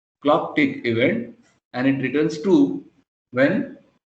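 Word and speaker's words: clock'event: event so this is this is pronounced as thing this is clock tick event and it returns to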